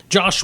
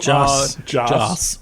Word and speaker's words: Joss: Josh Whedon, who... Joss. I'm not going to get it right. It doesn't The matter.